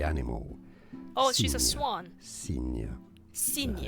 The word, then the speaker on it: Cygne: Cygne. Cygne. It would be the same pronunciation as a sign, but a different spelling.